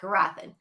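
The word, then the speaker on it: Gurathin: Yeah, and I think his name's pronounced Gurathan. Gurathan. Yeah, Gurathan. Gurathan. That's it, Gurathan.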